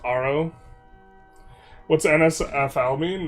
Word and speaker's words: Haro: It's pronounced Aro.